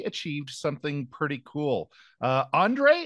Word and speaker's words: Ondrej: something pretty cool uh Andre is that is that the correct pronunciation of your name H yes it's it's my name it's correct perfect and where do you